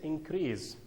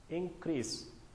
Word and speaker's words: increase: if it is a verb it is said increase but here the part of speech refer to the fact that it is a noun so it is pronounced like this increase increase here is a noun from the verb